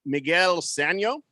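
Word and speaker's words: Sanó: Is it Miguel Sano?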